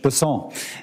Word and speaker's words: Bessent: Cassidy um Mr bassant I'm always going to pronounce your name as if it was in south Louisiana and I'm gonna pronounce it with a French Besson as opposed to bessent that's what those folks in South Carolina do um I'll try let